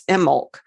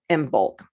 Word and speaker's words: Imbolc: mention Imbolc, which actually in Gaelic, the B is not pronounced. It's Imbolc in Gaelic. At any rate, I've always called it Imbolc.